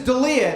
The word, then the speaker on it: D'Elia: Last name is Delia. It's D''E''L''I'. It's Italian.